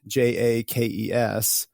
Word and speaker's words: Jaques: J A ke, which is for me the easiest to pronounce.